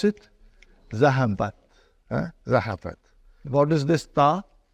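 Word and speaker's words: ذهبت: How do you pronounce it? Zahabat.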